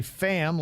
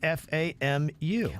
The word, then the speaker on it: FAMU: uh call it is you either say fam like family or you say fam youu it's not fmu well I don't know